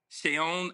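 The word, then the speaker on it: Seun: Sheon Adigan. It's spelled like Sean or no.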